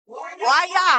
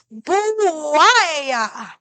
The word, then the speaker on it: buwaya: tagalog ng day waya. Hindi dapat hindi ganyan ang pronunciation eh. Bumubuka dapat ang bibig kasi ganid eh. Buwaya. Buwaya.